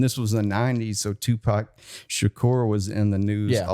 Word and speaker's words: Tupac Shakur: this and we're like Dennis it's Tupac Shakur and he's like no it looks like two pack shacker I was like no